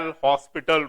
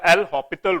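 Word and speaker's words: L'Hôpital: Now, we use for these questions, similarly we use for this question L'Hopital rule, or some students pronounce this as a L'Hospital rule, but this is a L'Hopital rule, and this rule is valid in two forms only.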